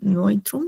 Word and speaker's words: neutrum: Masculin, feminin, neutral o neutrum. O sea, neutral, neutrum, neutrum es igual. Ah, y acá hay un dictongo que no he explicado. Esta EU es como una OI.